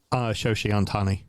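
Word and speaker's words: Shohei Ohtani: I love that you didn't correct my pronunciation because you don't know how it's pronounced either, and we're just going to go with it. Shoshi Ohtani.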